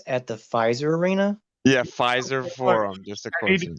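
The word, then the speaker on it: Fiserv: that I know that but it's pronounced the same it's similar yeah it sounds it just has a V at the end yeah so game game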